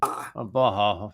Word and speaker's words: Baja: says Baja. The J is silent.